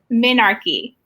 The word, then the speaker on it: menarche: time you get your period is called what menarche how do you spell that m-e-n-a-r-c-h-e and barry am i pronouncing it